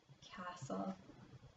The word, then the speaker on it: castle: The T's there, but it doesn't sound like there's a T in there.